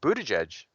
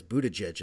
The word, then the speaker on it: Buttigieg: I guess Buttigieg is how you pronounce it.